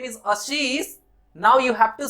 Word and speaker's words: Ashish: now it's incorrect because I pronounce myself as Ashish, तो you need to say Ashish as well.